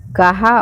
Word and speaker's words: कहाँ: उत्तर, कहा और आधी बोलने में नाक से न का उच्चारण नहीं होता है, जबकि कहाँ और आंधी बोलने में होता है।